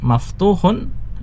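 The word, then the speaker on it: مَفْتُوحٌ: Sama kita lihat di situ kaidah membacanya albabu ya pakai alif lam sehingga dibaca tanpa tanwin. Sedangkan maftuhun itu tanpa alif lam sehingga dibaca dengan tanwin. Ada tambahan tanwinnya.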